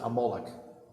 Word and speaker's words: Amalek: it's a nation called amalek and you should pronounce it amoloch amalek fights against the